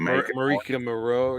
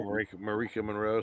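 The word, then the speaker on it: Maika Monroe: Marika Monroe, yeah. Monroe? Marika Monroe.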